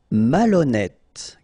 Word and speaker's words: malhonnête: Malhonnête. Okay, remember, H doesn't exist, so malhonnête. Don't insist on the final E.